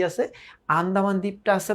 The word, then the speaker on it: আন্দামান: এখন কি বলতেছে দেখো, কলকাতার বাইরে বাকি যে পৃথিবীটা আছে সমস্তটাকেই মামা আন্দামান দ্বীপের অন্তর্গত বলিয়া জানেন। এখানে একটা প্রশ্ন হয় যে আন্দামান দ্বীপটা কি? আন্দামান, ইটস আন্দামান, ঠিক আছে, যাই হোক উচ্চারণটা আন্দামান।